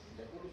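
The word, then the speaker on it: Jaculus: Cuando hay una J, se pronuncia como Y. ¿No conocen esta especie? ¿Ratoncito del desierto? De África, no de acá. Es de África. Ya. ¿Cómo se pronuncia? Yaculus, yaculus.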